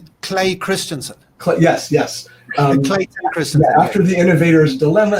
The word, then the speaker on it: Clayton Christensen: So Christian Claytonson, how do you say his name? Clay Christensen. Yes. Clayton Christensen.